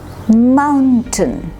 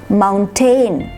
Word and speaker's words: mountain: carpet canteen crazy now listen to these two mountain it's not mountain when you say ten then you're giving equal